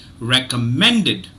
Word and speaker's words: recommended: always find out that recommended mend the third syllable is is uh is stressed but there is one